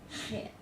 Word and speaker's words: chet: And when you pronounce this, it needs to be that chet, you know, like you clear your throat. These all are supposed to be pronounced sort of like the CH of Bach.